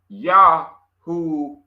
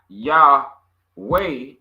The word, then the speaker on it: Yahuwah: The people that was using the word Yahuwah, not Yahweh, was the Yahudah.